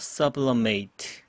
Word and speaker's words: sublimate: AT 발음은 동사일 때는 ate라고 합니다. Sublimate.